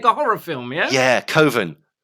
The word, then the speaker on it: Coven: Yeah, Coven. Like, why don't you call it Coven? Well, that sounds stupid. That sounds like an oven. It's like, but that's how that's how you say it.